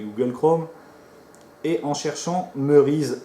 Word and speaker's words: Merise: r et s alors ne mettez pas de y ou n'écrivez pas ému on dit merise d'accord c'est pas emmaüs est mp et reyes merise donc prononcé justement merise et non mairie ou quelque chose comme ça c'est une méthode d'analysé